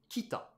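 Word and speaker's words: 北: Ça se prononce donc kita. Kita, c'est ça.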